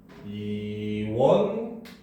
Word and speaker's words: 이원론: 자, 그 다음 횡단로 같은 경우도 횡단노 이렇게 발음이 되고, 자, 이원론 같은 경우도 이원논 이렇게 발음이 되죠.